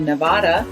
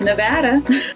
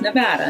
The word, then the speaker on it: Nevada: I always said Nevada, but everyone who lives there says Nevada. I thought that was maybe like dealer's choice, pun intended, but actually I was corrected a lot by everyone who lived there and said, no, it's Nevada, not Nevada.